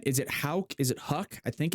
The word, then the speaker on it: Houck: This is a YouTube video that has an ad running, but it's Houck.